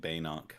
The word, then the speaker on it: Binoc: Is it Binoc or I say it Baynock, but Banoc? that's because of the American A.